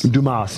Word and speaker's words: Dumas: I believe it's pronounced Dumas. Dumas. You're right. Oh. Yeah, the Quebec pronunciation.